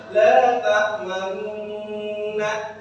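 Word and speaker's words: لا تأمنا: Kalau kita ejak secara pelan-pelan menjadi bunyi la ta'maunna. Tapi ininya yang dibaca manna. Karena dia ismam, jadi mencampurkan dengan huruf-huruf dhammah dan asal sukun. Jadi menggabungkan huruf berharokat dhammah dengan sukun sehingga cara bacanya la ta'manna.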